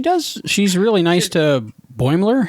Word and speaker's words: Boimler: She's really nice to Boimler. How do you pronounce his name?